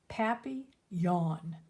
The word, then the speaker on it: papillon: like our neighbor's dog you say it like this papi yawn in french it means butterfly hey should i call